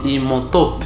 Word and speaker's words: Imhotep: C'est pas Imhotep, c'est comme ça qu'on prononce même les noms, un génie égyptien.